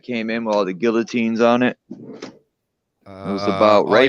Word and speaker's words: guillotine: The video of the train that came in with all the guillotines on it. It was about before that. I heard that one. Yeah. Canada bought like 290,000 guillotines or something.